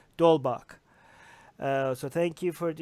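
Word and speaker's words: d'Holbach: Hobart well he team I keep saying the H is silent there's no it's pronounced dole Bach so thank you for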